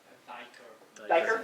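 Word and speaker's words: duiker: if there's any, Chris, is that called a doiker or duper? How's that pronounced? Do you know? Okay. So those things. Diker?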